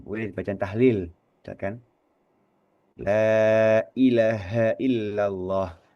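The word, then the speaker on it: لا إله إلا الله: baca Bacaan tahlil misalkan lailahaillallah. Lailahaillallah. H-nya juga perlu kita tekankan di sini gitu loh. Kita pastikan bahwa huruf ha di situ itu terucap gitu ya. Tidak sekedar lailahaillallah bukan tapi lailahaillallah bukan ilaha tapi ilaha gitu kan ya.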